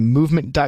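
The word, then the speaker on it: MVMT: free shipping and free returns by going to movement comm I'm gonna spell that for you it's MVM t-dot-com that's MVM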